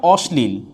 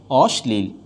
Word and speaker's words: অশ্লীল: হয়ে যাবে কি স্লাগা ওখানে লিখছিলাম অশ্লীল অশ্লীল তাইলে এখানে কি আছে দন্তসর সাথে আর তালবর্ষের সাথে ল যুক্ত আছে তাইলে দন্তস্য বিদ্যমান থাকবে তাইলে উচ্চারণটা হবে অশ্লীল অশ্লীল আজকে এ পর্যন্তই পরবর্তী